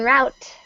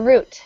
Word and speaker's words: route: give you number 7, route, or route. Okay, route. Route. The path the vehicle takes. Route. Good, exactly. Letter G. Letter G. And good, this has 2 pronunciations, route and route. Both are correct.